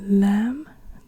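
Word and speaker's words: لام: then at the end then we have the lamb the lamb is an L lamb is like an l and it's also written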